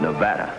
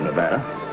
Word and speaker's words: Nevada: By the way, that's pronounced Nevada. I notice you give it the broad ah. I prefer it to a dreadful flat eh. Only the dreadful flat eh is correct.